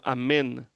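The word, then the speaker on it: אמן: O amém que a gente fala não é como tá escrito no hebraico. A gente põe o que no final da, qual é a última letra de amém? M. M. Só que em hebraico é N. Amém. Amém. Ah, amém. E a gente ainda fala assim, ó. Amém. Não é, era para falar amém. Amém. Acabou. Como eles falam amen.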